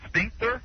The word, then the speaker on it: sphincter: Hey, you know, it's called Sphincter. No. Sphincter. Sphincter. I can't say it. Sphincter. Do you know that the ph in elephant is pronounced like an F?